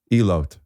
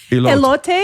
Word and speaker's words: elote: Elot. Is that pronounced right? Elot. That's Hebrew for a lot. Elote?